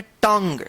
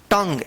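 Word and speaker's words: tongue: टंग क्या पढ़ेंगे? टंग यहां पर जो है ना यू और ई उच्चारण जो है ना साइलेंट रहेगा।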